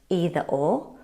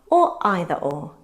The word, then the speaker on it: either: They can be pronounced either or either or, and likewise neither nor and neither nor. You choose, but you'll hear both in everyday English.